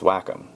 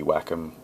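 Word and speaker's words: Wacom: I think it's pronounced whackom.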